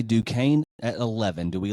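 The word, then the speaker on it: Duquesne: this school Duane duain yeah the S is silent okay du Kane at 11 do we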